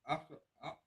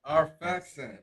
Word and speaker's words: Arphaxad: The children of Shem, Elam and Ashur, and Alpahad. How you say it? Arphaxad.